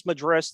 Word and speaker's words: Madris: days before that and blah madri blah madri that's a madris madri I honestly everybody's pronounced it about six different ways it's all good as long as he keeps hitting the baseball I don't think anybody's really going to care about how to pronounce his name um but I do it is mad I believe it's madris that's what I use baseball reference for as they tell you the pronunciations but yeah these last